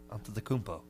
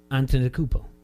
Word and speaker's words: Antetokounmpo: Antetokounmpo. Antetokounmpo.